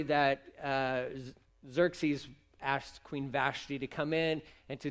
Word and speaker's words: Vashti: wife her name was queen vashti or vashtai if you pronounce it that way i don't know which one's right but i say vashti so they had a